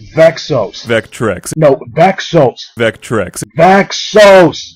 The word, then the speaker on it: Vexos: will belong to the vectrex it just keeps C all right look it's pronounced vexos okay vexos all right let's try it